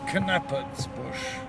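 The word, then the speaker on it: Knappertsbusch: Vienna Philharmonic, conducted by the name Knappersbush. Well, thou art a man of taste. Keep it up. Incidentally, we pronounce it Knappersbush.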